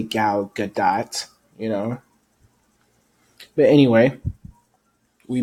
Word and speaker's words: Gal Gadot: about, her name, because a lot of people say her name differently. So I say Gal Gadot, you know.